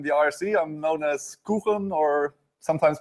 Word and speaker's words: Quchen: I'm known as Kuchen, or sometimes pronounced as Kutchen.